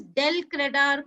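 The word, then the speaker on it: del credere: Please pronounce the term properly. It is called as del credar commission.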